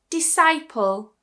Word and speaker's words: disciple: Disciple, disciple.